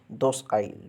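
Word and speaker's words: docile: सो जो डोसाइल है इसका प्रोनाउंसिएशन हो गया इस तरह से निकल रहा है डोसाइल, दोसाइल। डोसाइल means दोसाइल। दोस्त मीन्स दोस्त। हम एक टर्म में दोस्त को दोस्त बोलते हैं, है ना। अपने बहुत ही क्लोजली जो देहाती प्रोनाउंसिएशन होता है उसमें लोग कहते हैं कि दोस्त आइल, दोस्त आइल। दोस्त आइल मीन्स दोस्त आइल।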